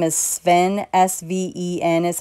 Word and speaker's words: Sven: I think his name is Sven, S-V-E-N is how you say it.